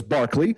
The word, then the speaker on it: Berkeley: Barkley the Irish philosopher after whom the Berkeley is named I don't know why they pronounce it differently but it's his name is Barkley uh insisted that the